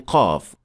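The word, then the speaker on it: قاف: If you're struggling with pronouncing Qaf, or when you try to produce it, it sounds more like an English K rather than Qaf.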